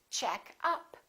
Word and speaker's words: checkup: As we learned, if it's a phrasal verb, we stress the second part. We stress the preposition. And if it's a noun, we stress the first part.